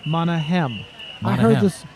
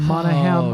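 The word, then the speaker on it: Monaghan: I heard this morning that's Canyon monaghem I heard this morning from the meat announcer Monahan I'm assuming that's correct well then we need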